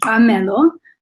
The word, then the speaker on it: Mqamelo: excited to be here my name is mello it's got a click there um so kudos to